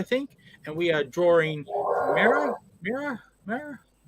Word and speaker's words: Mera: Heroes HQ hello yes it's been pronounced mirror like mirror mirror on the wall who's the fairest of